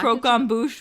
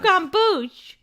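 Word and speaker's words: croquembouche: Croquet bouche? It has an M in it, Mom. Right there. M.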